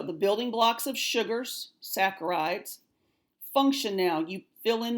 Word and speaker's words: saccharides: pronounced sac arrives not Sasser ides the H is silent so it's like an S ACK AR I des so it's like saccharides and the EOC final exam whatever that might